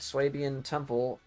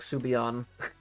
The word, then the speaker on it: Swabian Temple: Alright, Swabian Temple. I still remember how to pronounce it from last time. I used to call it like Subion.